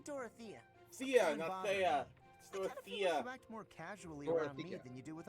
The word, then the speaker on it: Dorothea: me and doroth a we keep saying her name wrong by the way hey Dorothea Sia than you do